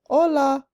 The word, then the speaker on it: Hola: She was so excited to join them, but even though she said "Hola" with a silent H, they waved her off.